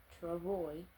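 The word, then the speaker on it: travois: a kind of sled called a TR pronounced Travoy a Travoy was made of two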